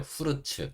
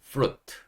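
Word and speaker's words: fruit: 하는 경우가 있는데 그렇게 후르츠라이요 영어 단어를 한국식으로 고쳐서 발음하다 보니까 이제 그렇게 되는 건데이 단어의에 원래 발음은 프루트 루트 이렇게 되는 겁니다 여기도 F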